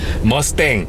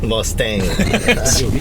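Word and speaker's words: Mustang: 발음이 틀린 거예요. 머스탱. 머스탱.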